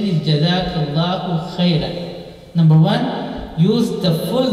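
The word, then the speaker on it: جزاك الله خيرا: So say jazakallahu khairan, and the correct pronunciation is jazakallahu khairan.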